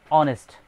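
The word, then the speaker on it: honest: যেমন অনেস্ট, এই অনেস্টের প্রথম অক্ষরটা হচ্ছে এইচ, কিন্তু এইচ এখানে সাইলেন্ট ওয়ার্ড, যার কারণে ও উচ্চারিত হচ্ছে বিদায় এর শুরুতে এ না হয় এন বসবে।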